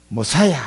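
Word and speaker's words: משיח: 메시아는 히브리어고 그리스도는 헬라어고. 머사야 이렇게 발음이 머사야.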